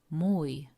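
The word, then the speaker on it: mój: home it would be muy muidam muy this middle letter oh is pronounced similarly as in the English word food maybe slightly differently but quite close oh oh oh oh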